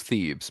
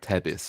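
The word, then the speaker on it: Thebes: the place that everybody calls thieves but is actually pronounced Tebis.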